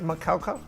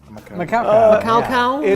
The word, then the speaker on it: Macaulay: And its name is pronounced Macaulay. Macaulay.